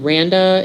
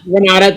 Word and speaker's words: Renata: was oh my god randa is that her name is that how you say it renata thank you randa oh i'm three